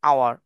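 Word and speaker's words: hour: বলব N orange an আওয়ার আওয়ার টা হচ্ছে এইচ টা একচুয়ালি হাইট এখানে silent H is silent H এর কোন উচ্চারণ নাই এখানে এইচ ও ইউ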